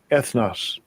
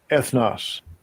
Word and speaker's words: ethnos: g484 g484 ethos right let's get the pronunciation s g 1484 ethnos ethnos you got to understand